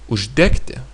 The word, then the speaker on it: uždegti: the although the infinitive the g is somehow reduced to k it's pronounced like k but still written with g since the past t